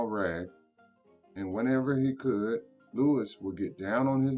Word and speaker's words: Louis: here louis he called he pronounced it the way the french way louis the way people in new orleans always did you go on home